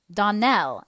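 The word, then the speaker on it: Donnell: would set it right Donell Accent on the last syllable and Saint Clare on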